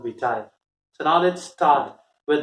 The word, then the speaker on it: vitae: Another common mistake which students make, they mispronounce it as YT. It's not YT, it's curriculum vitae.